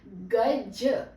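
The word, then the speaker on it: ग़ज़: हाथी और गज गज अब देखिए ग ज ज के नीचे आ गया है नुक्ता अब इसका उच्चारण बदल जाएगा ज नहीं बोलेंगे ज बोलेंगे ग ज गज और गज गज अब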